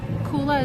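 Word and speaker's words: Coola: and hair Mist sunscreen koola is spelled c o o l a like cool uh and then it's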